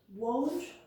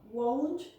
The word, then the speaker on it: won't: Won't go, won't study. I won't go out tonight, for example. Careful with the pronunciation, it's not won't, it's won't.